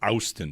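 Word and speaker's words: Auston: It's pronounced Austin. There's an O in there.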